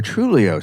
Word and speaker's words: Truglio: mind what would YOLO truglio say what would Jolo trulio say oh first of all it says I'd like to clarify that the g is silent second of all do we